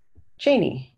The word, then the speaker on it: Jeanne: I'll link that in Jeanne if I'm saying your name right yeah that's how you pronounce my name training I'm working on